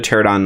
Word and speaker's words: Pterodon: We got another Pterodon Knight. The P is silent in Pterodon.